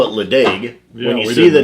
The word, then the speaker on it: Ledaig: used to call it ledee be the name you think it's leg and then you're told no the D is a CH it's l'chaim and when we were